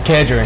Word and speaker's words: Kedron: Did I say your name right? It's Kedron. Man, I said it wrong all season.